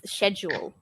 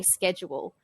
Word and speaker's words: schedule: So basically, it's pronounced differently in the UK and the US. So in the UK, the Hmm. pronunciation is schedule. And I Okay. guess because in India, you learn British English because Yes, of the British definitely. influence. Yeah. So whereas in the US, they say schedule.